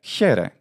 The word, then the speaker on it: χαῖρε: sure sure sure and if we want to pronounce this the modern way the way that came to be true sometime in a Byzantine period then Hera is the way to pronounce it when we reconstruct an